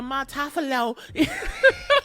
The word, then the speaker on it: Montolfo: love and Erica the Montolfo. Again, wrong. Always wrong. This bitch. Listeners, I'm always pronouncing her last name wrong, because it's like, is that Italian? Your name? Montolfo. It's Argentinian.